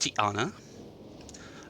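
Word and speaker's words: Ti'ana: respects to tiana um actually i think it's appropriately pronounced tiana uh the apostrophe is a glottal stop in that particular place and that's of course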